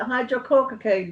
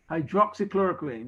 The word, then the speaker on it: hydroxychloroquine: Is it hydrochloroquine or whatever it is, how you pronounce it? Hydrochloroquine. Hydroxychloroquine, you mean?